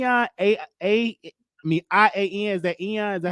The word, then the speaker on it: Ian: is the e on a a i mean i a n is that ian is that how you pronounce his name oh yeah you say his